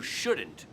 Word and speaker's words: shouldn't: No, he dicho shouldn't. La L no lo pronunciamos.